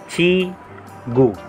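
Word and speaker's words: 지구: Ito naman pong symbol, kapag nasa unahan, C H naman po ang bigkas. Pero kapag nasa gitna naman po ito ng dalawang vowels, J naman po ang bigkas. J. J. Ito pong katabi ng C H, I naman po. Ito mo yung G. Kapag G naman po ang bigkas, kapag nasa second syllable. Sa ilalim po ng G, yung U naman po. Chigu. Chigu.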